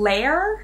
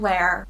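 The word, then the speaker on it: Lehr: post from fapoli then lair i think is how you would pronounce it l-e-h-r is actually a planning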